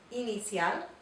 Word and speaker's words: inicial: It looks like the letter I in English, but we want to say E whenever we are speaking Spanish and reading in Spanish. And the word we're going to pronounce is the word for initial. It's inicial.